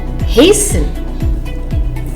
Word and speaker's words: hasten: The silent letter T. Interview, buffet, gourmet, rapport, penchant, listen, glisten, hasten, fasten, castle, whistle.